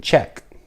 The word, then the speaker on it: Czech: Funny thing I just thought about, in Czech Republic, it actually starts with a CZ, the word Czech, and I guess we pronounce it just like our southern brothers Czechs would do.